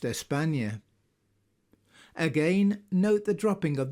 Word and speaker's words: España: Compare this with the name Spain, which is the English form of the name which in Spanish is pronounced España.